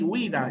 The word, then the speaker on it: huida: Se pronuncia así, huida. Es una palabra grave que termina en vocal.